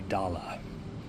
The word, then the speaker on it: Dala: And then there's this round, Aloha from Hawaii 1989, and it says Silver Hawaii Dala, which would be the Hawaiian pidgin pronunciation of the word dollar.